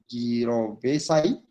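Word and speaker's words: jirovecii: They pronounce it as gyrovesi.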